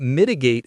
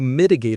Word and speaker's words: mitigate: You mitigate a risk. Let's say it. Mitigate. Mitigate. The stress is on the first syllable.